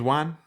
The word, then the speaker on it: Wan: Jam James ju James Juan James Juan I always say James Juan Jimmy Jimmy Juan I I always say it like one yeah okay yeah we